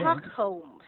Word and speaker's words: Stockholm: This, we have a silent L on Stockholm. Stockholm. It's a place in Ah, Sweden, no L sound. okay. Stockholm, Stockholm. Stockholm. Yes, No L, Stockholm.